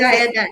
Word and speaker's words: Poseidon: Because I don't want to try and pronounce. Apple said, is it Poseidon, yes. okay? That is correct. Yes. Poseidon.